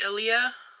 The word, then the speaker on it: Ilia: um but this is i think it's pronounced ilia i-l-i-a and this is the